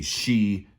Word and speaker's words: Xi: you prefer but i believe it is actually pronounced the she g like almost like j i kind of ji like like like zizor anyway i'm going to